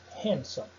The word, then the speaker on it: handsome: possui um padrão geral, mas ela fica muda nas seguintes palavras que eu separei. Ó. Observe elas. Sandwich, Wednesday e handsome. Você não vai pronunciar os desses. Sandwich, Wednesday, handsome.